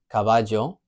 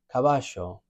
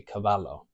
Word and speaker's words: caballo: It can sound like Y, like a Y, J, like a J, or sh, like a SH, but it's never going to sound like a L. It's never going to be caballo.